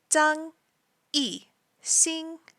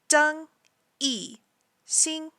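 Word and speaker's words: 张艺兴: So the way that I say his name in Chinese is the way that the characters should be pronounced.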